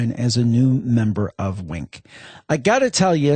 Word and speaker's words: Winc: as a new member of Wink.